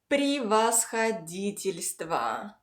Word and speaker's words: превосходительство: All unstressed yes give a short I sound. And altogether, the second part is превосходительство.